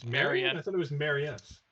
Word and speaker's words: Marian: over the fact that nathan keeps on mispronouncing marion it's marianne i thought it was